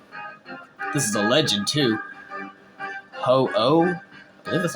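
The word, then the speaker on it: Ho-Oh: continue on so this is a legend too ho oh that's how you say his name but it's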